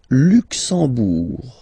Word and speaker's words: Luxembourg: Le Luxembourg, okay, final G not pronounced, and then when you combine this E-M here, you get the sound en. You don't pronounce the M at all, it's this nasal en, okay?